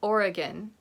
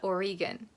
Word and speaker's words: Oregon: the neighboring states, you know that it's called Oregon, not Oregon. But I've run into people from Canada or elsewhere in the United States, and they don't know that it's Oregon.